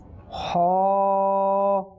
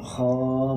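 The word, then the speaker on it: ح: জি মদিনা আপনি বলেন ছয় নম্বর হরফটা এখানে হা হবে আর উনি খ বলছে জি জি জি মাশাআল্লাহ জি এটা সঠিক উচ্চারণ হবে হা মাশাআল্লাহ সুবহানাল্লাহ জি মদিনা আমার ইসলামী ভাই কিভাবে বলেছেন জি না এটা হচ্ছে হা অর্থাৎ একটু চেপে বলতে হবে ঠিক আছে ইনশাআল্লাহ কি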